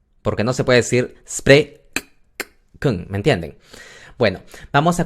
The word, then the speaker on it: spreken: Los holandeses a veces no pronuncian la EN al final, sino que dicen spreken, spreken. ¿Me entienden? Pero no importa, la pronunciación es spreken, spreken.